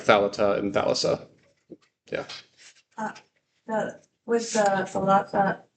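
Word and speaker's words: θάλασσα: No, we'd say thalassa. That's 3 syllables. Yeah. So it's, both sigmas are part of the third syllable.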